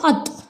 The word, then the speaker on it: अतः: या जैसे हम लिखते हैं अत, लेकिन अगर विसर्ग जोड़ देंगे तो ये क्या बन जाता है, अतः।